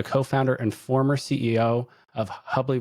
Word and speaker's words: Hubly: Today we're thrilled to have Louis Ratif, the co-founder and former CEO of Hubbly Rhymes with Bubbly, a pioneering wealth tech company that revolutionized health wealth manage over hundreds of firms.